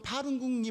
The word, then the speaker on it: 파룬궁: 보니까 파룬궁이라고 하는, 여러분 파룬궁이 뭔지 아세요? 중국에 아세요? 이상호 집사님 파룬궁? 못 들어보셨어요? 박지 집사님 못 들어봤어요? 중국의 변종 불교 같은 건데 파룬궁, 그러니까 그 중국어로 발음하니까 파룬궁인데 이거를 한자로 표현하면 법륜공이에요. 법륜공.